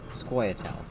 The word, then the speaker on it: Scoia'tael: You have Nilfgaard, Northern Realms, Monsters, and Scoia'tael. That's how it's pronounced, actually.